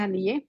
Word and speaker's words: Haniyeh: Partido Marxista-Leninista de Canadá condenó el asesinato del líder de Hamas, Ismael Haniyeh, creo que se pronuncia Haniyeh, Ismael Haniyeh, en julio 31, un acto criminal que fue cometido por los sionistas.